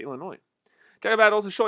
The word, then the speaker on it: Illinois: what illinois huh illinois i don't pronounce that i said illinois talk about all the